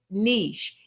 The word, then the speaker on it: niche: It says the niche and you do pronounce it niche. It sounds it rhymes with the word sheish. Niche sheish.